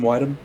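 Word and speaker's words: Widom: their name set properly uh bud wydom w-i-d-o-m whidham whiteham and david yorstan uh for the standout i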